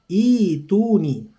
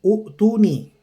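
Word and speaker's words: ائتوني: hamzah menjadi huruf mad, jadi bacanya ituni ya, bukan u'tuni.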